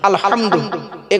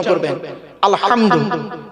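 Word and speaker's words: الحمد: বলি আলহামদুলিল্লাহ রাব্বিল আলামিন আলহামদু এই গলার ভেতর থেকে উচ্চারণ করবেন আলহামদু আলহামদুলিল্লাহ মানে হচ্ছে সমস্ত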